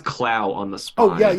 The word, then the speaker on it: Clow: supposed to be pronounced Clo. Are you sure that's just not an accent? No, it's definitely like it's written out in kana as Kuro.